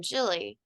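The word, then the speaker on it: Gilly: Hello, I am Jilly, and I am Olakit's Jilly most places on the internet. Jilly is spelled with a G, and I understand that's confusing.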